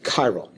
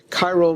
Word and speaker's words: chiral: said to be chiral it's a CH but it's pronounced like a hard C chiral chiral means handedness hand or